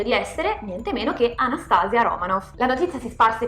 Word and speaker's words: Anastasia: Dalla regia mi dicono che si pronuncia Anastasia, come anestesia.